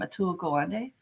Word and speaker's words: Atul Gawande: we really like uh um ryan help me pronounce his name atul gawande yeah okay um so he's got several books